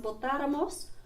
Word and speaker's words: votáramos: You can see that these two are spelled exactly the same, but A has the accent over the third last syllable. So it's pronounced votáramos.